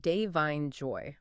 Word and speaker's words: Da'Vine Joy: So, her first name, it's pronounced Devine Joy. Like two separate names, no middle name. Devine Joy.